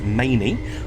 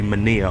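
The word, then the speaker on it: Manea: that we passed through which is mainly i believe i'm pronouncing that correctly i had to google the pronunciation because i looked at the spelling which is m-a-n-e-a and i was just like that's going to trick me i thought it might be mania or something like that but no apparently it's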